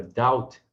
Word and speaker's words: doubt: Então, repare que a palavra debt e a palavra doubt, nelas o B é mudo.